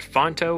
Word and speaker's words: Phonto: I also use this app called Fonto, which is my number one app I use for like the episode number and whatnot. It's spelled Phonto.